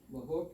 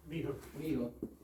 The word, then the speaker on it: Mihook: So I've sent it over to Mr. Mahook, is that how do you say his name? Mihook. I sent it to Mr.